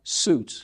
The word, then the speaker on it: Sjuts: had to tell me it's s j u TS pronounce suits yeah the origin German